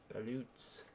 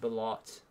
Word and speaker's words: balut: Balut's. Or is it balot? I think it's balot with an O, isn't it? I might be wrong. At least that's how my wife pronounces it.